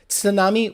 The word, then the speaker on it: tsunami: whip too cool whip tsunami with the t really yeah it's tsunami